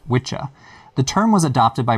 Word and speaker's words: wicca: first some basic terminology the word wicca derives from the old english word for witch or sorcerer which was probably pronounced witcha the term was adopted